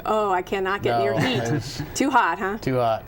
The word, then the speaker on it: Hit: you pronounce it camp hit it's actually pronounced heat yes probably appropriate for how hot it was camp heat and of course there